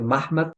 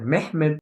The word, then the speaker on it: Muhammad: Puede ser Mahmad, puede ser Mehmed, puede ser Muhammad o puede ser Muhammad.